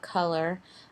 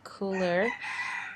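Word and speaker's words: Kuler: adobe has um it's I call it color um you people call it cooler um it's spelled k u l e r and what you can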